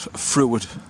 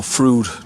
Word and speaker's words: Fruid: reservoirs Megat Tala and Fruit or Froo depend on how you pronounce it.